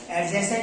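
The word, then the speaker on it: adjacent: एडजेसेंट side पढ़ा आप लोगों ने? ए डी ऐसे पढ़ा नहीं? मैथ में पढ़ा नहीं भाई? इसमें क्या रहता है बेटा? डी साइलेंट है, एडजेसेंट बोला जाता है।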